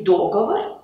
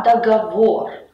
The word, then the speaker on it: договор: Например, не договор, а договор.